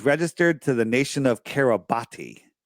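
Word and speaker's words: Kiribati: uh it was registered to the nation of kabati right pronounced Carabas but it's spelled kabati and I looked it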